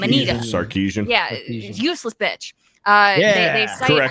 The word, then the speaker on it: Sarkeesian: They specifically state Anita Scarsese. I can never pronounce her fucking name. Anita. Sarkeesian.